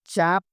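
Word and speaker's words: cap: চার্জকে কি বলে চার্জ চাপ চাপ মানে কি মার্কা সিএপি ক্যাপনাকিন্ডিরা চাপ মালয়েশিয়ান ভাষায় সি কে চ উচ্চারণ করা হয় সি এপি চাপ এর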